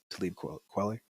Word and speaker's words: Talib Kweli: How he says Talib Kweli.